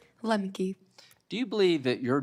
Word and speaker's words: Lemke: make a pledge to these people uh Miss limp what how do you say your last name Lemke do you believe that your generation particularly is